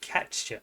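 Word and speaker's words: Katya: but Gary pronounced it catcha he throws a CH sound in it so that's how I'll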